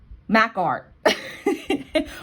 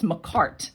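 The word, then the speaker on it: Makartt: even my nails and i say mac art or or i don't know i just i get like dyslexic i can't say it but it's mccart and it took me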